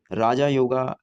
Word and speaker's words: राजयोग: इसमें राजा योगा लिखा है बट हिंदी में उसे राजयोग प्रोनाउंस करते हैं।